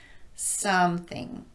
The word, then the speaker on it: something: So, in order to correctly stress some in that word, we'd simply elongate that syllable slightly more than the second one, like this: something, something special.